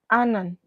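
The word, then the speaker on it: Ananth: for undergraduate so the value for this one Anan let me spell that for you a n a n t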